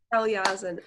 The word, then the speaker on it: Kalyazin: Kalyazin. All right. So it's because it's Slavic, so the middle syllables are always emphasized.